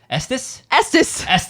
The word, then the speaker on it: Estes: And we have 2 from one squadron captain, Josh Estes. He actually messaged us today how to say his name. Estes.